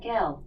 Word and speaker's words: de Gaulle: gonna canal alexa pronounced g au e ll e i pronounced that gal gal okay now during this